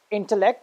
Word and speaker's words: intellect: For example, you have intellect. If you see the bold capital letters, it's I-N. That's why it's pronounced as intellect.